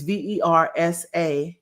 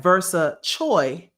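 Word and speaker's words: Versachoi: his uh moniker is V E R SA Ch and it looks like Versa Choi when you write it in English, but it's really versa, which is a play on Versace, right?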